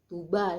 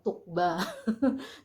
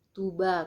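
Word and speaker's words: Tuğba: Vicky Naki dan Tuba Tuba ya bukan tukbah karena huruf G yang pakai komanya itu dibaca tidak tidak terdengar gitu sekilas doang gitu kayak dia lemah gitu jadi bacanya Toba Kalau kayak Erdogan juga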